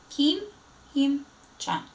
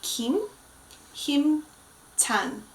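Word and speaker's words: 김힘찬: Kim Him-chan. Very good. So our member is going to be Kim Him-chan. Kim Him-chan.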